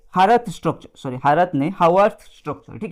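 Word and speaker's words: Haworth: हावर्थ structure, sorry हावर्थ नहीं, हावर्थ structure. ठीक है, आप प्रोनाउंसिएशन कुछ भी करो लेकिन याद रखो हावर्थ स्ट्रक्चर इसको बोलते हैं।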